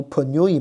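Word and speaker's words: πνεῦμα: 但是在英文里面这个 p 是不发音的。好，希腊文你要发出来，你要读 pneuma 啊，但是英文里面它就变成了 pneumatology 哈 pneumatology p 不发音了啊，所以这是英文跟希腊文的区别啊。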